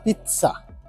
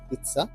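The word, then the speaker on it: pizza: যেখানে পিজ্জা বানায় আসলে ইটালিয়ান উচ্চারণটা হবে পিজ্জা ত হয় মাঝখানে পিজ্জা তো আমি অর্ডার করেছি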